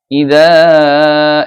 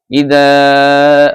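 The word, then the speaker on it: إِذَا: راجعون বাংলা উচ্চারণ الذين إذا এখানে মাদ আছে ইজার মধ্যে তিন আলিফ টেনে বলতে হবে إذا أصابتهم مصيبة قالوا কলর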